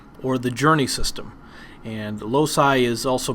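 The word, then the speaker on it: loci: Today's topic is the memory palace system also known as the lossi or the journey system and lossi is also pronounced as low key.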